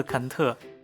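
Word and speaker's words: Cần Thơ: 秦居越南話發音近似肯特，位於越南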